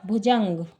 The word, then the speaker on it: भुजंग: भा में छोटे ऊ की मात्रा है, जा में अम की बिंदी है और ग भुजंग।